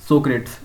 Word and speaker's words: Socrates: आज मैं यहाँ पे चैप्टर 4 को डिस्कस करूँगा जिसका नाम है सोक्रेट्स। इसको इंग्लिश में सोक्रेट प्रोनाउंस करते हैं और हिंदी में इसको बोलते हैं सुकरात।